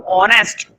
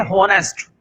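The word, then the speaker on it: honest: लोग मूर्ख होते हैं, वो पढ़ते हैं होनेस्ट। तो होनेस्ट कुछ नहीं होता है, क्या पढ़ते हैं इसको, ऑनेस्ट। एच साइलेंट होता है, एच क्या होता है, साइलेंट होता है, इसको हम पढ़ते हैं ऑनेस्ट।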